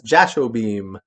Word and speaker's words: Jashobeam: So I jokingly said, well, So just imagine me sitting there with two laser guns going pew pew pew as Jashobeam.